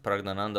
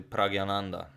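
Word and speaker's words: Praggnanandhaa: Well, it's kind of my name, not my real name, but also I've heard Pragnananda isn't actually pronounced Pragnananda, but actually Pragyananda.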